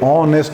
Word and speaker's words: honest: honest man why because H pronunciation is silent so we say honest man another example he will